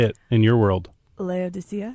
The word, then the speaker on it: Laodicea: Laodicea. Laodicea.